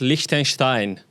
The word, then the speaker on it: Liechtenstein: She is the princess of Likenstein. That correct? Correct pronunciation.